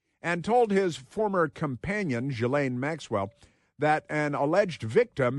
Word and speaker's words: Ghislaine: I always want to say Ghislaine Maxwell, but it's because that's how it's spelled. But Ghislaine Maxwell.